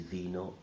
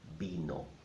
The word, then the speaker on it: vino: languages because imitating is veno in Spanish would be the same well it is not I'm afraid in Spanish the V sounds like a bow so it's not the no but vino vino vino vino now